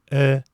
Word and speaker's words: тӧл: Напоминаю, что о с двумя точками читается как звук средней между э и ы. Эл.